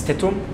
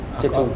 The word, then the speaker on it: Tetum: Sorry, it's Tetum. Tetum.